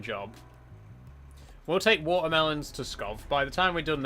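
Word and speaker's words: Pskov: to Is it pronounced Scov? I think the P is silent. Maybe we should go to Scov because that's only slightly further and it's a much better paying job. We'll take watermelons to Scov.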